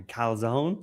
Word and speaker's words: calzone: The calzone. A calzone.